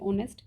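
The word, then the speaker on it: honest: तो इसलिए एच जो है यहां पे साइलेंट रहता है। ओ की साउंड आती है ऑनेस्ट।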